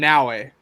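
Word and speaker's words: Naoe: It's Yasuke, and Naue. There we go. Naue. Okay, so I would have been like spelling it Noway.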